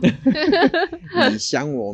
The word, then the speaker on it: 你想我: 你想我 means you miss me. Okay, so and the pronunciation was 你想我.